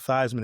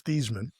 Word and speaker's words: Theismann: know is that his the actual pronunciation of his name is not Theismann, it's Theesmann. Yeah. Uh but he was changed to Theismann by the marketing team at Notre Dame to rhyme with Heisman.